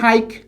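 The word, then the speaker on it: hike: এইচ আই কে ই, তাহলে উচ্চারণ হবে হাইক।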